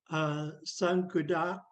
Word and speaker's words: Sankudak: Um, Sankudak, the W is not pronounced.